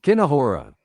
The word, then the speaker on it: kinahora: I pronounce it Kinahara. Oh, let's see what the pronunciation is. Let's see if we can do this. Okay. No. Hold on. Yeah, we're getting it. Okay. Like before this. Kinahora.